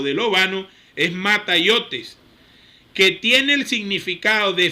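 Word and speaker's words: ματαιότης: El término vano utilizado en griego es el siguiente, así suena la palabra. Mataiotes, así se pronuncia, así suena porque me dediqué tiempo a buscarla.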